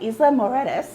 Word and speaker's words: Isla Mujeres: i am actually on the beautiful island of isla moredas did i say it right oh see there